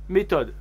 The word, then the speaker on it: méthode: difficile à trouver une méthode la méthode méthodologique pampara comme en anglais mme assad on ne prononce pas le h en français une mission impossible comme